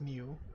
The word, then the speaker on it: Nieuw: No, you that's pronounced new.